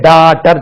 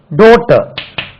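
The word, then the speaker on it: daughter: எச் டி இ ஆர் நம்ம இங்க டாட்டர் சொல்றோம் டாட்டர் தவறு டாட்டர் I have three டாட்டர்ஸ் என்ன சார் நீங்க வித்தியாசமா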